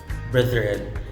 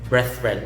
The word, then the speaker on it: brethren: next example is brethren brethren it's voice th not the voiceless if it were the voices the issue the pronunciation could have been breath red but it's the voice that so you say brethren brethren okay this word